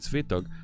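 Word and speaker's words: Swetugg: I'll make sure I pronounce that right. My Swedish friends corrected my pronunciation the other day. I'm going to be speaking at Svetog.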